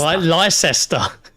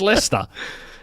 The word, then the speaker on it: Leicester: If you see Leicester spelled out, it's like Leicester. Licester. Yeah, Licester, but it's Leicester.